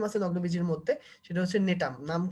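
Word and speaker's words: Gnetum: আচ্ছা, এখন একটা ব্যতিক্রম আছে নগ্নবীজীর মধ্যে, সেটা হচ্ছে নেটাম। নাম কি? নেটাম। জিনেটাম না কিন্তু, ঠিক আছে? উচ্চারণ করতে গিয়ে তোমরা অনেক সময় জিনেটাম উচ্চারণ করো, জিনেটাম না, এটা নেটাম। ওই জিটা উচ্চারণ হয় না, উজ্জ থাকে, ঠিক আছে?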